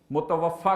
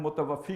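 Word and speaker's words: متوفیٰ: متوفا کہتے ہیں، ویسے ہم متوفی کہتے ہیں لوگ، یہ غلط تلفظ ہے.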